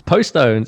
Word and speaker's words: Postones: It's Postones. Yeah, I mean, I'm from Postone. Birmingham in the UK, so it's Postones.